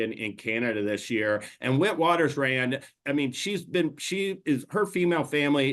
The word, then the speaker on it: Witwatersrand: This is actually a name in Afrikaans, I believe is how you say it. It's actually, Darin, you have it better than I do, so you say it. Witwatersrand.